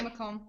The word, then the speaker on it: Macomb: Yeah, see? And you? Crystal? Yeah, Macomb. Yeah, Yeah. the S is not there.